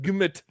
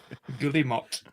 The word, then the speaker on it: Guillemot: Why best Gumut? Guillemot.